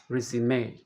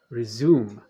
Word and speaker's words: resume: first verb second stress is on the first syllable of the noun resume second syllable of the verb resume let's end this video